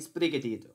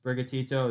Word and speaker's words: Sprigatito: pronunciation you're gonna get this pokemon reminds me of the song despacito because they sound very similar as brigatito is very close to